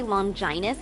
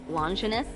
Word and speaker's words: Longinus: Speaking of the minister, I gotta ask, why do you say Longinus instead of Longinus? Because it is the proper way to pronounce it, though some regions say it the other way.